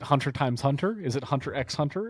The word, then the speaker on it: Hunter x Hunter: Is it hunter x hunter? Is it hunter hunter? How do you say something like that? X. It's always X.